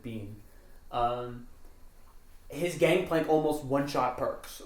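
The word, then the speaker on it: Bin: And then Bean's, B-I-N, and he pronounces it Bean.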